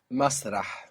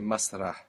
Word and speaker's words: مسرح: Masrah. We must hear that breathy H on the end there. Masrah.